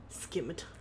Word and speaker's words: scimitar: Scimitar. Scimitar is the way you pronounce it.